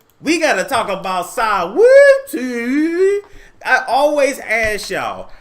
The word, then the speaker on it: Saweetie: So Saweetie got dragged and ended up shading Nikki Dragun.